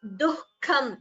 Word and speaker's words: दुःखम्: The visarga after du also should be heard. So it is dukkham.